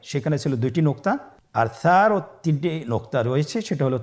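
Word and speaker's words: ث: সা হরফটি বারিক মানে পাতলা করে উচ্চারণ করতে হবে। তাহলে আমরা এখন সায়ের মাখরাজ লক্ষ্য করি। সায়ের মাখরাজ কোন জায়গা থেকে? স্ক্রিনে দেখা যাচ্ছে। সা হরফটির মাখরাজ হলো উচ্চারণের স্থান জিহ্বার আগা সামনের উপরের 2 দাঁতের আগার সঙ্গে লাগিয়ে উচ্চারিত হয়।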